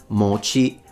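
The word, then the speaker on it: 餅: But it's the opposite. At least in standard Japanese, it's pronounced mochi. Mochi ga, it's a heiban pattern, so one of those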